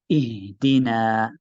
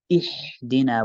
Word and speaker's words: اهدنا: we have here in ihdina, which is the bottom of the throat, closest to the chest. So you should sort of feel something right near your chest when you say ihdina.